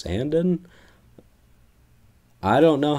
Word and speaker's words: Sandin: steal for us and I thought it was pronounced Rasmus Sandeen but when dubis announced that apparently it's Rasmus Sandin I don't know how